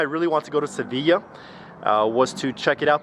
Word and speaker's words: Sevilla: In Latin, the Latin language, the city is pronounced Sevilla.